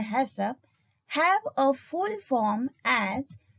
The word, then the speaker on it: HACCP: about principles of hassan haccp usually pronounced as a hessop have a full form